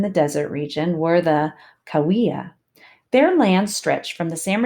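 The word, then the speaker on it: Cahuilla: I have to keep going back and looking at how to pronounce that. It's the Kauia.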